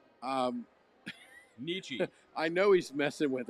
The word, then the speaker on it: Nietzsche: today alone today alone so I share this out to a lot of people uh it's PR it's pronounced it's pronounced Nietzsche um Nietzsche I know he's messing with us I like